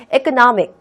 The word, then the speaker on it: economic: 그러면 얘는 읽을 때 S 발음을 하면 절대로 안 되겠죠. 여러분들이 여기다 S 발음 해버리면은 여러분들이 전달하고 싶은 내용에 완전히 반대되는 또는 말도 안 되는 뜻을 전달하게 되는 거예요. economic, economic, economic.